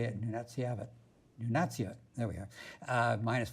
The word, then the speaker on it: Nunatsiavut: Under 18, I learned how to say it, Nunatsiavut.